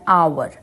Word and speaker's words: hour: vowel sound like an hour, an honest, an ire, an honor. तो यहाँ पर hour है, hour की sound हार h नहीं है, r है. So h is silent here.